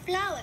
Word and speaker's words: flower: Ở đây thì chúng ta có từ flower, trọng âm 1 bởi vì từ này là có 2 âm tiết. Danh từ có 2 âm tiết, chúng ta đánh dấu trọng âm rơi vào âm số 1.